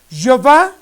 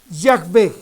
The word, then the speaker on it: Yahvé: debemos pronunciar correctamente, Jehová, si esto fuera real, observen ustedes, Jehová, Yahvé, Jehová, Yahvé. Nos damos cuenta, queridos hermanos, que es un error de pronunciación. El nombre del Altísimo, con el que nosotros podemos acercarnos o quizá identificarlo a Él, es Yahvé. Sin embargo, nosotros en la